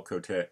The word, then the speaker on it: Cote: Because you and I have been pronouncing it C-O-D-Y, and that's sort of a New England accent. Close enough. Whenever people get confused, I just say think like Wild Bill or Buffalo Bill.